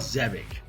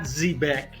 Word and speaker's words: Zebec: name of this wrong it's called zebic not zebec zebic so it's zebic so you've definitely heard me